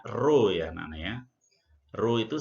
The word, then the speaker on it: rho: Ini bacanya rho ya anak-anak ya.